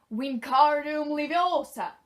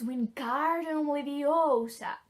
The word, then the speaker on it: Wingardium Leviosa: Wingardium Leviosa! He shouted, waving his long arms like a windmill. You're saying it wrong, his tongue snapped. It's Wingardium Leviosa. Make the gar nice and long.